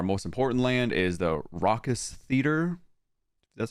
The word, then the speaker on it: Raucous Theater: And then our most important land is the Raucous Theater.